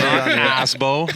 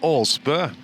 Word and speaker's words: Aasbo: We're not going to say asbow. No, it's not Asbo. It's actually Ob. Oh, the double A turns into O.